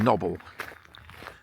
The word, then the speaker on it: Knobble: This is the bit that my father always called noble, as in knobbybly, because it is a bit lumpy.